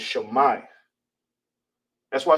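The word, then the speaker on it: שמע: you will say it, how you pronounce it is shama. All right. All right. So hear and listen is in uh ancient Hebrew is it's is pronounced shama.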